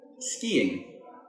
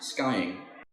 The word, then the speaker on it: skiing: say these after me skiing not skying ballet notice the T